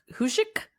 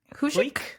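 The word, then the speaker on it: Huyck: that but that guy huy c k hoik that feels right if it were h y I would say hiu but it's it's not well it's the Y CK that's supposed to be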